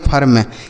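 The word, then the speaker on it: firm: आई के बाद आर रहेगा तो आई का उच्चारण आ हो जाता है। एफ आई आर एम इसे पढ़ेंगे फर्म। एफ आई आर एम फर्म।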